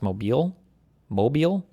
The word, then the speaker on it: Mobile: new vote dilution test based on white It's pronounced Mobile.